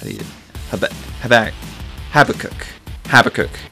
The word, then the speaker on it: Habakkuk: Habakkuk is how you say that.